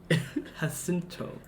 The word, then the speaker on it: Jacinto: Jacinto.